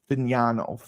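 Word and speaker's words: Fagnano: Joe Fignano, is that how you say his name? Fignano.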